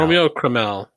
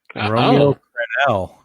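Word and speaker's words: Romeo Crennel: Romeo Cromell.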